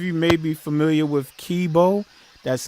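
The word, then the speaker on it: Keybeaux: called ricochet so again his name is kibo he's a rapper and that is spelled k e y b e a u x okay and again the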